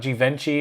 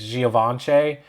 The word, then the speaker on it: Givenchy: Givenchy, of course, is not Givenchy. It's Givenchy.